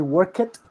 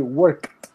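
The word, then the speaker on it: worked: the first the pronunciation you don't say work it you say work work work work so later Sarmiento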